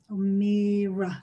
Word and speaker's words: O'Meara: O'Meara, yeah, that's how you pronounce it.